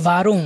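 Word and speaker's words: warum: ভি, VEA, ডব্লিউটাকে আমরা ভি উচ্চারণ করব। তাহলে VEA, ভি মানে হচ্ছে হাউ বা কিভাবে। তারপর হচ্ছে ভারুম।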